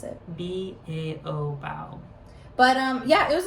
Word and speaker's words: Bao: And we're pretty sure that's how you pronounce it. B-A-O, Bao.